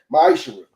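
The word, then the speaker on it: מעשר: Means tenth in Hebrew and is pronounced ma'ishra.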